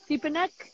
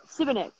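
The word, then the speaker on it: Šibenik: Oh, how do you pronounce the city? Sipanek? That's all right? Where we are? Sibenik. I'm in Sibenik.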